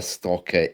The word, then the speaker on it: stalker: a l k r but the L is silent okay so there is an L in there but it's not pronounced a stalker is a